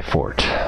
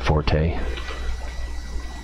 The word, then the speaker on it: forte: the bass inventory management not my fort I don't mind when people pronounce it Forte I don't laugh at